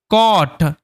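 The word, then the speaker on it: caught: GH এখানে silent থাকে, এই ইউর উচ্চারণটা অয়ের মতো হয়, এটা মাথায় রাখতে হবে।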